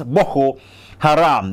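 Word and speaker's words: Boko Haram: B Haram that is the actual pronunciation is B Haram that is westernization is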